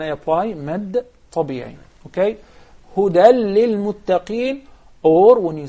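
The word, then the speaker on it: هدى: We write it even as a ya, such as the word huda. Huda. We write it as ya, but we pronounce it as alif.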